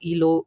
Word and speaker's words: Elo: So ELO rating, so it's ELO. It's pronounced as ELO rating.